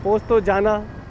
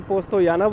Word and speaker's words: Postojna: ही funny language है पोस्ट तो जाना तो पोस्ट तो जाना है वैसे तो लेकिन पोस्ट तो याना बोलते हैं तो यही है यहां